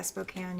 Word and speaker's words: Spokane: it gets to Spokane or how however you pronounce it. Yeah, Spokane.